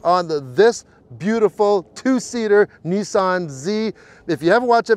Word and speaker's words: Z: calling this z not zed well first of all we're in las vegas nevada so we're in the united states and it's pronounced z the letter like that in canada we say zed however in japan for